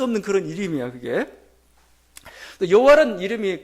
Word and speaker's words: 여호와: 그 여호와의 발음을 잃어버렸습니다 발음 왜냐면은 히브리어는 자음만 있어요 자음만 있습니다이 자음만 딱 있는데 몸은 이제 우리가 면 하는 거죠 근데 오랜 시간 동안이 모음이 없는 상태에서 부르지도 않았단 말입니다 그러다 보니까 뭐요 그 발음이 정확히 뭐냐 구분이 안 됐던 거죠 그래서 사람들이 여호와라 단어가 어떻게 나왔냐면 원래는 이제 이응 뭐 히 뭐이 정도만 자음만 있는 겁니다 거기다가 아도나이 모음을 붙였습니다 그러다 보니까 발음이 여호와가